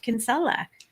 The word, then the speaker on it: Kinsella: demon please welcome our special guest tonight ronald kinsella to the outer brown hello how are you